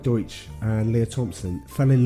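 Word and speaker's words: Deutch: time okay so the director howard douche d-e-u-t-c-h i looked how to pronounce it deutsch howard deutsch and leah thompson fell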